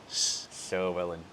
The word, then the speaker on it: Llywelyn: So the double L in Welsh is pronounced as Llywelyn. Llywelyn. Yeah, So that's you gotta crazy. like smile and Yeah. blow through the back of your cheeks, kind of.